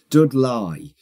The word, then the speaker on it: Dudley: accent of our youths dude lie is a particularly broad black country pronunciation of Dudley it is yes yeah